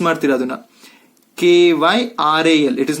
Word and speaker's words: chiral: Hing pronounce ಮಾಡ್ತೀರಾ ಅದನ್ನ? Kyral. It is not a spelling, I am just giving for pronunciation. Chiral.